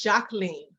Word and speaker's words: Jacqueline: It's Jacqueline. Jacqueline? Yeah, it's just the French pronunciation of Jacqueline.